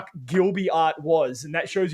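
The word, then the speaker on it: Ghibli: on the podcast um it can actually be pronounced gibli or jibi either way is actually correct because it's a weird translation exactly it's okay yeah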